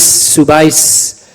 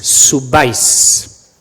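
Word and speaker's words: subáis: What does that accent do? Yeah, it puts the stress on the ending, doesn't it? Bebais, subais. Yeah, it puts the stress on the final syllable, which happens to be the ending.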